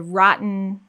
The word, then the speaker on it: rotten: other cases though again like the word rotten and people we have no vowel at all period so don't do